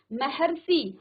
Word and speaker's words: महर्षि: ऐसे ही महर्षि, हर, हर में किसका उच्चारण आ रहा है, अर का, ठीक है, क्योंकि ह में अ की ध्वनि है और र तो है ही।